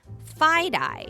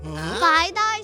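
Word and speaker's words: FiDi: The financial district in New York City is also known as Fide-Eye. Fide-Eye sounds like tie-dye. That's silly. It kind of does. Fide-Eye is spelled F-I-D-I. It's the first 2 letters of the words financial district.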